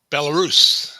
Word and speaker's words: Belarus: I see that name all the time and I never pronounce it, and I know where it's at, even north of Ukraine. Is it Belarus? Belarus.